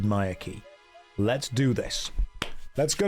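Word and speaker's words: Myreque: I pronounce it Maya Key.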